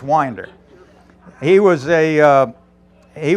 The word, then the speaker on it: Winder: I always pronounced it Winder who wouldn't um sort of sort of like my mother pronounced the little Square things in the side of the house but it's it's Winder he was a uh